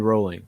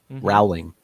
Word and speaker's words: Rowling: bowling what did you say Micah I said rolling yeah that's another one Rowling O'Reily yes everybody gets that wrong how did